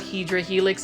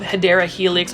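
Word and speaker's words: Hedera helix: those don't know what hedra Helix is that is really the my mispronunciation of hadera helix or English ivy um it is a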